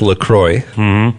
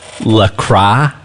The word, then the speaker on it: LaCroix: be weird it's okay we are pronouncing it correctly it's lacroix according to women's health not lacroix or with craigs why would you